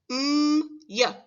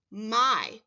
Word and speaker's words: my: It looks like it should say yeah, but it actually says I.